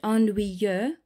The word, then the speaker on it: ennuyeux: Now with this word ennuyeux, that's a very common word to struggle to pronounce in French.